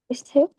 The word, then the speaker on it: receipt: Receipt. Receipt. P is silent.